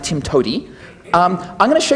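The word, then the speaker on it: TIMTOWTDI: way to do it which is pronounced Tim to um I'm going to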